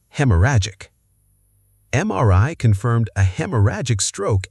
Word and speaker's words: haemorrhagic: Hemorrhagic. Hemorrhagic.